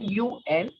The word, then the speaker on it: un: You can see the spelling written UN. So the pronunciation of UN is un in French.